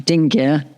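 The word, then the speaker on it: dingir: Um the name of the sign is pronounced dingia and written as superscript d as you can see on this slide.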